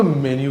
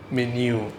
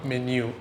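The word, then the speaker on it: menu: നമുക്ക് മെനു കാണണം. Right, മെനു അല്ല മെന്യു. ഓക്കെ, അവിടെ ഉച്ചാരണം ശ്രദ്ധിച്ചോളൂ കേട്ടോ, മെന്യു.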